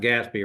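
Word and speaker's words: GASB: be consistent with the is it it's pres pronounced Gatsby right the generally accepted account accounting procedures for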